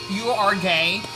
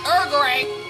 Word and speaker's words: Uruguay: You are gay, which is not how you pronounce it. Uruguay.